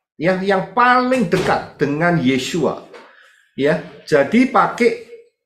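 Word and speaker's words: ישוע: itu bukan nama saudara cara pengucapan yang salah Sekali lagi saya katakan Saya pertegas di sini itu bukan nama ya kalau mau nama ya nulisnya harus benar yaitu Yod syin wau Ayin yesua sudah bisa lihat di sini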